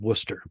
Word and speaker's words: Worcester: it's probably Quincy because in Massachusetts they pronounce all the names slightly different because they're um the ugly stepchild of England like Peabody is called Peabody and War sister is called Worcester but go ahead Quincy